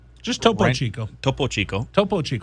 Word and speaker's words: Topo Chico: to you by toppo chico hard seltzer and topo chico margarita hard seltzer um topo chico ranch water heart salsa old topo chico family is here with us today on say it once topo chico just toppo chico topo chico topo it's like oh it's like